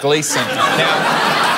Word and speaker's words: Gleeson: got with my surname it's pronounced Gleason when you say the first bit try to think of glee the show on channel 10 which is and